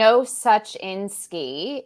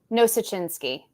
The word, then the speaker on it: Nosachinsky: Nosachinsky. It's Ukrainian. Say it normal. Like say it like Nosachinsky. There you go.